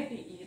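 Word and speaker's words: two: आहे हा तोंडपाठ करा त्यानंतर टी डब्ल्यू ओ याच्यामध्ये पण कुठेही रूल नाही पण तरी आपण डब्ल्यू चा उच्चार करत नाही टू साईट वर्ड आहे हा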